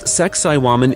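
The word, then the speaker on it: Sacsayhuamán: Located on the edge of the ancient city of Cusco, once the sacred capital of this mighty empire, Saxai Huaman, pronounced Sakaiwan in the native tongue, is not just the ruins of a fortress.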